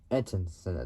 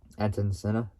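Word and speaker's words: Ayrton Senna: say it like properly want to try so Anon Center there you go so Anon Center his full name is etan Sil etan Sena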